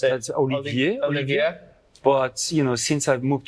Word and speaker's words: Olivier: Oliver, am I saying it correctly? Is it incorrect? How do you pronounce it? That's Olivier.